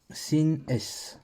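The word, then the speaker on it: שׂ: dans le mot shabbat quand le point est à gauche je prononce ce comme dans Israël comme dans le mot Israël comme dans le mot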